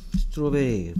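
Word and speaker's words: strawberry: 스트로베리 하잖아, 근데. 스트로베리에서 조심해야 될 거는 스트로 할 때 오 소리를 조심해야 돼. 오 소리. AU, AW가 오 됐어.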